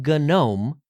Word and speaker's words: GNOME: gasa also noted that the G in gome wasn't just for show as most ganu software